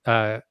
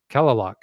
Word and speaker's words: Kalaloch: It's one of the words I was having trouble pronouncing earlier. It's Kalaloch. Kalaloch.